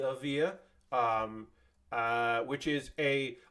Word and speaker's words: Evija: this the Lotus Avia I'm double checking my pronunciation I believe Lotus Avia yes the Avia um uh which is